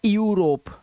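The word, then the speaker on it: Europe: यहां पर इयू तो इसे इयू नहीं पढ़ना यूरोप ठीक है इसे पढ़ना है यूरोप क्या पढ़ना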